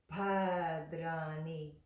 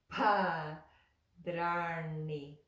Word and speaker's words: bhadrāṇi: I were you, well, anything with the aspirated sounds in them. So Bhavantu, Bhadrāṇi, Bhāg, Bhavet. Again, Bhavantu, Bhadrāṇi. Especially that one, because we also have da, ra, na. Bha, da, ra, na. Yeah. Bhadrāṇi, Bhadrāṇi, Bhadrāṇi. Yeah, so practice that one.